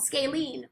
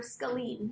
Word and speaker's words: scalene: That's called scalene or scalene. You'll hear it pronounced both ways. Scalene or scalene. Either pronunciation is usually acceptable.